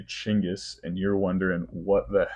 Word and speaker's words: Chinggis: But since this is a factually accurate history podcast, we're going to go with the original Chinggis pronunciation.